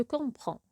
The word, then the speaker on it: comprends: conjuguer le verbe comprendre je dirai je comprends même si le DS ne se prononce pas on l'écrit je comprends tu comprends il comprend